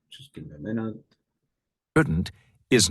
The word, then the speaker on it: shouldn't: Can't and shouldn't. Part A. Listen and practice these statements. Notice how the T in can't and shouldn't is not strongly pronounced.